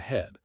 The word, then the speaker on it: He: He, pronounced like Her, with a yawn which is associated with the heart.